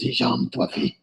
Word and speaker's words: Hisham Tawfiq: Hisham Tafweek. That's Yeah. because he actually did a liner for us, and that's how I know how to say it. This is Hisham Tawfiq.